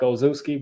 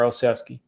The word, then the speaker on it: Olszewski: And it looks like Ozuski, but it is pronounced Gunner Olszewski.